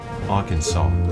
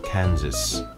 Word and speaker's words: Arkansas: curtain at the Mississippi that's Arkansas or Aransas if you're looking at the word how it's spelled we're going to meet